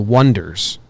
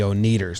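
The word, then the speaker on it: Oneders: They're called the Wonders, but they spell it O-N-E-D-E-R-S. So everyone announces them as the Oneaters. And they say, no, we're actually the Wonders.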